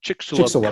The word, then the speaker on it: Chicxulub: When you mentioned the Chicxulub crater, how do you pronounce it? Chicxulub crater.